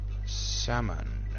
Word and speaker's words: salmon: Because if you sound it out, salmon doesn't sound like it's got an L in it, does it?